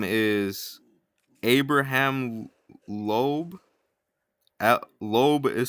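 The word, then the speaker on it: Loeb: astrophysicist who attended Harvard, his name is Abraham Lobe. Lobe is spelled L O E B.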